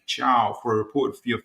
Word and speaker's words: Thiaw: United have finally signed Malik Chow pronounced Malik Chiao for a reported fee of 35 million including add-ons.